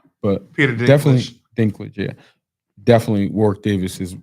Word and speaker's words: Dinklage: Drink uh how do you say his name Drinklage Dinklage from Game of Thrones has become but Peter definitely Dinklage Yeah, definitely War Davis is is among the